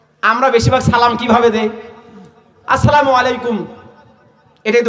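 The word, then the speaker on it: السلام عليكم: আসসালামু আলাইকুম, আসসালামু আলাইকুম, আসসালামু আলাইকুম, এটা হলো সঠিক উচ্চারণ।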